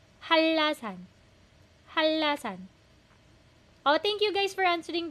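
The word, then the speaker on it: 한라산: 제주도 제주도 제주도 제주도 and last라 hanlasan hindi siya hanra hanla halla naging double l siya halasan thank you guys for answering the questions po.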